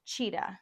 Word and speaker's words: Chida: Oh, her last name is pronounced cheetah.